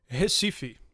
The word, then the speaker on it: Recife: Recife. Recife? Yeah. That's an R. Yeah, because R's in Portuguese make a H sound.